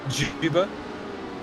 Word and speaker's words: Juba: Do you pronounce it Juba? Yes, maybe. Like tuba with the J. Yeah, that's right. Okay, so Juba, yeah.